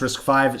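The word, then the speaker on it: RISC-V: were in 2000 right so yeah it's pronounced risk five sorry i i'm reading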